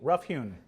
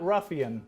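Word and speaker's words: rough-hewn: Rough hewn. Rough hewn. Rough hewn. Not ruffian, not ruffian, rough hewn.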